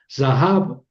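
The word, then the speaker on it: זָהָב: Zahab. Zahab quiere decir oro. Son tres sílabas, perdón, dos sílabas. za, que es una sílaba abierta y hab, que es una sílaba cerrada.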